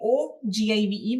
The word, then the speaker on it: ogive: It is the name say OGIVE, but it is pronounced as ogive curve.